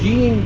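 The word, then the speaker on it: Jens: It's Gene, but it's spelled J-E-N-S.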